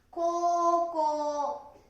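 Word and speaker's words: 高校: で、 8 番は高校、高校、ね、書くときはこう、こうと書いてください。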